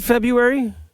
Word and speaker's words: February: is it February because the way it's spelled in case you're wondering why we're asking this rather silly question is Feb R UA r y but I have never met anyone who says February